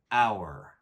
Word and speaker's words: hour: vowel sound for example our begins with a silent h making this sound like a vowel so please say an hour number seven use an